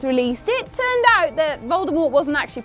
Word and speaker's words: Voldemort: it turned out that Voldemort wasn't actually pronounced the way everyone thought it was and the T was actually silent so it was furthermore